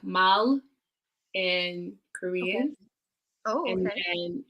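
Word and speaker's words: 말: is saying least compatible with rats um it's pronounced like mal and korean oh and then is the horse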